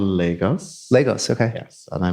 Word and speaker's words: Lagos: like growing up in Legos and that my pronouncing it right Legos Legos Legos okay Legos is kind of like